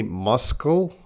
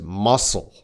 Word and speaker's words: muscle: So that C is silent. Some people say muscle. Whoa, whoa, whoa. That is very wrong because that C does not have a K sound. It is muscle.